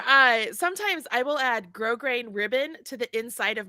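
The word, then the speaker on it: grosgrain: so that's where I sometimes I will add grow grain ribbon to the inside of my garments to hold the weight of the Garment up here grow grain ribbon gross grain it's spelled like gross grain grow grain um and so you add that to like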